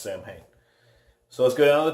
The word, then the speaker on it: Samhain: stuff in here and I'm pronouncing it Samhain I think might be pronounced saw win I'm not sure but here in America that is pronounced Samhain so let's go down